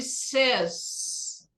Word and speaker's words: says: Jerry said ou Jerry says. A pronúncia é says. A gente ouve muito falar errado, inclusive o gringo, eles falam às vezes says, mas a pronúncia disso aqui é irregular.